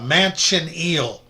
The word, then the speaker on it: manchineel: of was called a mansion eel tree. And it's spelled just like it sounds, ma n c h i n e l.